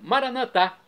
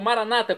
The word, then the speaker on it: maranatá: E agora eu clamo do dialeto de Jesus, o aramaico maranatá, como dizemos aos católicos, ou maranata, como dizem nossos irmãos das comunidades evangélicas ou protestantes. Não importa a pronúncia, o significado é o mesmo.